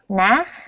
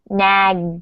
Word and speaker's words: Nag: Okay, so again, when I hear you say nag, it sounds like nach. So Nach. you really want to nag, g. Nag, G. Try to make this sound g. nag, Nag. Much better.